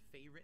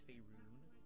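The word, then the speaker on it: Faerûn: It's pronounced Faerun. It's not Faerun, it's Faerun.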